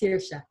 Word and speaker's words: Saoirse: It's pronounced Saoirse.